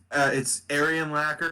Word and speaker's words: Arianlacker: It's Arianlacker. It's similar to Urlacher because it pisses Bauer off.